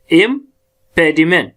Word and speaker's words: impediment: अब जरा कोर्स खुद भी देख ले, impediment, इम थोड़ा धीरे से आता है और प का हम ज्यादा स्ट्रेस करते हैं, तो impediment।